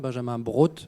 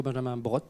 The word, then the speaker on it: Benjamin Brot: hloïse alors tu as tu as prononcé mon nom à l'allemande Benjamin Brot c'est plutôt Benjamin Brot je j'y tiens c'est l'accent au vernia j'y tiens beaucoup alors effectivement moi j'ai